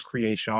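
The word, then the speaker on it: Kreayshawn: Nique yeah okay and remember crean yeah that that's how you pronounce it it's not cron it's creation the white girl I thought it was creation because it's k r e a y probably right you know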